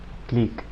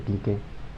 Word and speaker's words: clique: grafo no ha dirigido una clic clic creo que sigue la pronunciación más correcta porque se menciona para descansar díganos a veces le dice quique ese clic en una